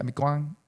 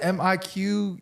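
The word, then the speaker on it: Mì Quảng: Is it Miquang? Yeah, I mean, everybody, it's different accents. Do you not supposed to pronounce the Q? No, I do not.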